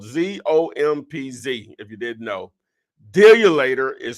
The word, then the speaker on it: Dealulator: Dealulator is spelled, it's a play on the word calculator. Remove the CALC and replace it with DEAL, ULATOR, Deal You Later.